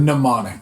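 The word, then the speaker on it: mnemonics: have which I'm probably going to butcher the pronunciation. monom pneummonics. Could you say that word? Pneumonics.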